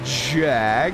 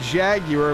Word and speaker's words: Jaguar: said the name tonight yes I do know how to say the name not just Jag it is the Jaguar of course as